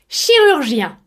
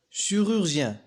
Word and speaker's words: chirurgien: chirurgien, chirurgien. هذه الكلمات تحتوي على 3 مقاطع صوتية. الأول يتكون من 3 أحرف CHI dans le son chi se prononce chi comme le mot chiffre.